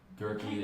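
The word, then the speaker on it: Gauerke: Gerie is spelled uh G A U E R K E.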